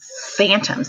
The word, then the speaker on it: phantoms: But here's another PH word, phantoms. That PH sounds like an F, but this is how it's spelled, he exclaimed.